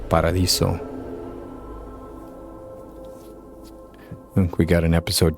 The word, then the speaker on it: Paradiso: back to Paradiso and yes it's pronounced Paradiso think we got an